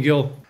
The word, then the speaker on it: Gil: Do I pronounce it Gil? Yeah, there's multiple pronunciations. Yeah, most people in the U.S. call me Gil.